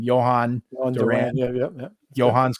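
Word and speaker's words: Jhoan: jorge alcala and i don't know how to pronounce his name johann duran yeah yeah johan's correct yeah so trader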